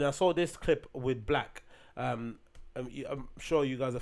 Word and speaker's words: 6lack: And then anyway, so I was thinking about that, and I saw this clip with Black. I'm sure you guys are familiar with him. It's spelled like 6 with a L-A-C-K.